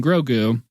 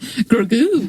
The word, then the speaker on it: Grogu: the Darksaber and Grogu, I don't know why I'm putting the accent on the goo, but Grogu, because he's mostly goo.